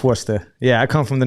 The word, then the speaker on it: Worcester: w-o-r-c-like cat e-s-t-e-r so a lot of people say War sister but it's Worcester yeah I come from